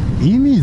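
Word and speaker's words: 射水: 乗るのはうんイミって読むんだね射的の車にスって書いてイミ本来の計画だ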